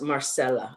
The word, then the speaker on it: Marcela: of course I found it's pronounced Marcela so it's a soft C.